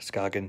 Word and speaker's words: Skagen: working on this beautiful Skagen watch today I believe that's how you say it uh skoggin Skagen you you know potato potato whatever these are made in